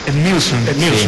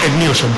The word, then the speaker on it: Edmilson: Ah, ¿y el sobrenombre Edmilson cómo se pronuncia? Edmilson. Sí. Vale, o sigui que ho hem dit bé la segona vegada i no la primera. No la primera, la segona sí, Edmilson.